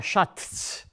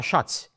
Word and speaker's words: Schatz: So you don't say der Schatz, you say der Schatz. It is the same pronunciation as if you would be omitting the letter T.